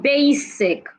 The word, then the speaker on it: basic: can have it in basic the s in basic does not sound like Zed it's not basic it's